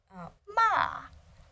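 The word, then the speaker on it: 骂: okay finally we have this combination of fourth MA and we have this character it is pronounced ma and means scold so with with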